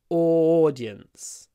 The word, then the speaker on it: audience: audience is teenagers audience make sure you pronounce it with an a double o o at the beginning audience audience audience the next one